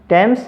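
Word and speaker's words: Thomas: ठीक है, तो ये दो ही नाम या दो ही जो स्पेलिंग आपने को याद रखनी है। टेम्स एक नदी का नाम है, टॉमस एक व्यक्ति का नाम है।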